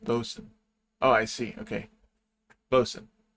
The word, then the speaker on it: boatswain: This is boatswain, right? Helmsman. What is a boatswain? Fun fact, boatswain is pronounced bosun.